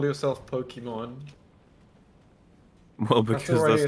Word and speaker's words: Pokimane: So you would correctly pronounce that as Pokemon. Oh, I see. But everybody who hears that her name is actually Pokemon is like, are you an idiot? It's Pokimane.